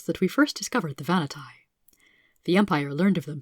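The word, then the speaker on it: Vahnatai: in this one on the vanity people the vanity pronounced vanatai are a very interesting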